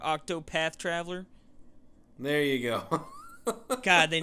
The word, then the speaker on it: Octopath Traveler: Octo Traveler. Or you said it wrong. Octopath Traveler.